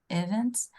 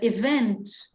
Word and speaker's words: event: host a big sporting event than either of those two. Very good. Suitable, não pronuncia o I, tá? Suitable. Okay. And event, a sílaba tônica é a última.